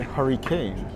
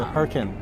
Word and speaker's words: Hurricane: It's like I was in Utah and they don't say hurricane. They say hurricane.